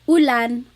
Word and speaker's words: ulan: And then letter U is an U sound, U. So ulan, upuan, rain and chair, U.